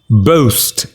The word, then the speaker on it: boast: if any let's start how do you pronounce the word is boost the sound is o boast it means to speak